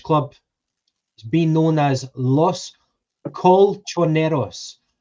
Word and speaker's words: Los Colchoneros: If you give us the answer, we'll give you the pronunciation. Okay, which Spanish club is being known as Los Colchoneros? Los Colchoneros, and that translates as the mattress makers.